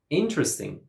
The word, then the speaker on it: interesting: All the native speakers say interesting. Interesting. A native English speaker would never say interesting or interesting.